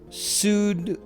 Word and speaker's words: pseudoculli: Pansaurus pseudoculli russus. Russus. Yeah, that second P is silent.